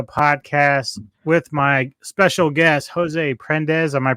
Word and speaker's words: Jose Prendes: the Middletown Rio podcast with my special guest Jose prendes am I pronouncing that correctly you are indeed and thanks